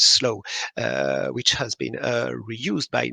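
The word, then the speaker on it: S2LOW: most famous is Slow, S2 Low, which we pronounce Slow, which has been reused by more than 11,000 local authorities.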